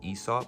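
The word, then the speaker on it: Aesop: I just looked it up and apparently it's pronounced Esau.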